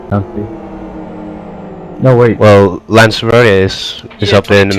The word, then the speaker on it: Lanzarote: Is it Lanzarote or Lanzarote? It's the country of Lanzarote, so it's Lanzarote, I think. But in reality, it's Lanzarote. Yeah, we tend to say Lanzarote. that. Okay. Yeah, pronounce the E. But I don't know if that's correct. That's just how we say it in the UK.